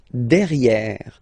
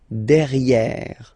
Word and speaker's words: derrière: So if you look carefully, you've got E here and then double R, so it will open the sound of this E, and you should pronounce it E, okay? De. Derrière. Same thing here. You've got this E accent grave, E. Derrière. Okay? Don't pronounce the final E.